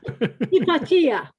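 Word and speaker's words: Hypatia: Yes, we're um I I used to do it the way the Americans do and I had a Greek person in my audience who yelled at me and said, "Do not say it that way. You say it hippatia because she's Greek."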